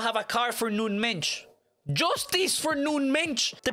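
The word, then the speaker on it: Nuno Mendes: world right now is i've literally learned how to pronounce his name thanks to you guys nun mention i had to go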